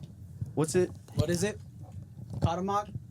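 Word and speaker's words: Cuauhtémoc: Kadammok. Kadamok.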